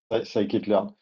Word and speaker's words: Scikit-learn: comment on le prononce, je pense que c'est Skitelearn ou Skitelearn. Scikit-learn.